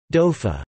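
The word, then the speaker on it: dóibh: In South Connemara, for example, there is a tendency to substitute a b sound at the end of words ending in bh, beta, such as sibh, libh, and doib, something not found in the rest of Connacht. These words would be pronounced respectively as shiv, live, and dofa.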